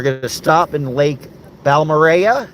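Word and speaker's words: Balmorhea: to stop in Lake balmorea it's you think you'd pronounce it balora but it's not uh so we'll stop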